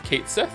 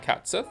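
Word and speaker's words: Cait Sith: whatever they confirmed that the name is a mispronunciation that sounds how that sounds how it reads. So So it's Kate Sith. It's not Cats Sith.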